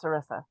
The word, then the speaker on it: Sarissa: I really don't care that much, but just for accuracy, my name is pronounced Sarissa, like Melissa with a Oh, sir.